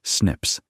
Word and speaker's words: SNPs: These single-letter variations are called single nucleotide polymorphisms or SNPs, pronounced "snips", and SNPs are incredibly useful.